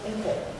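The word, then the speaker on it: 香港: 노인네들이 표준어를 몰라가지고 익숙하지 않아가지고 지방에 다르고 또 홍콩 이게 원래 국경 표준어로 하면 샹캉이라고 있고 우리가 있는 홍콩이라고 하는 곳은 안동성 발음이에요.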